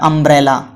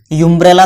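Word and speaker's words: umbrella: English में भले वो यू से शुरू हो रहा है, लेकिन आप अगर उसे नॉर्मल लिखेंगे, प्रोनाउंसिएट करके देखेंगे तो अ का साउंड आ रहा है, अम्ब्रेला। यूम्ब्रेला थोड़ी हो रहा है, अम्ब्रेला हो रहा है ना।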